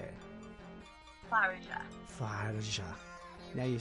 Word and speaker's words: Tharja: Tharja.